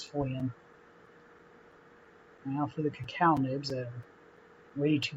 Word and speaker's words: cacao: was saying the ingredients i mispronounced cacao nibs as cocoa nibs i have a tendency